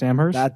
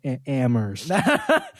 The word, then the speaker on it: Amherst: now you're at UMass amher that's right that's it excuse me the the H is silent ammer that's right ammer so